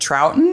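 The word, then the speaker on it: Troughton: Now, before we go on though, we should say Brian is played by David Troutton.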